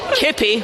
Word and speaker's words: K1P1: This is CCP Kippy. I am CCP K1P1. K1P1 stands for Knit 1 Pro 1 because I love to knit and also cross stitch. It's pronounced Kippy.